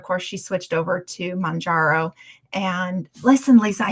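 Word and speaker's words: Mounjaro: um then of course she switched over to Mangaro and listen Lisa I said it right. Maro anyhow because I used to call it Majaro but anyhow um and then I ended up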